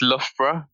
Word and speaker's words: Loughborough: It's Loughborough. Oh, Loughborough. It doesn't look like that at all.